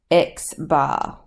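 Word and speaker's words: x̄: It is pronounced X bar.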